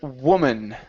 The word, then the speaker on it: woman: one is the word woman okay so instead of saying woo W it's an uh sound W woman woman okay